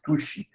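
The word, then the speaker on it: al-Tusi: A pronúncia normalmente é Tushi, que você vai achar.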